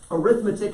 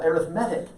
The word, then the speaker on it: arithmetic: were in elementary school arithmetic is a noun you put these emphasis on the second syllable but if you put the emphasis on the third syllable arithmetic it becomes an adjective an arithmetic sequence but